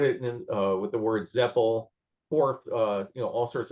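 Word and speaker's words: Zepel: I think that's supposed to be pronounced Zeppel to rhyme with repel.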